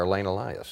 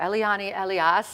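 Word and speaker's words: Eliane Elias: tell me about her Elaine Elias oh yeah so Eliana Elias has she pronounces it from Brazil she is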